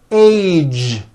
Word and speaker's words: age: Be sure to keep the voicing going throughout the whole word. Age. It's not H, it's age with a voiced ending.